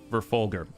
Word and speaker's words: Verfolger: G spoken as in gun.